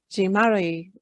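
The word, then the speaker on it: Jean-Marie: Jean Marie.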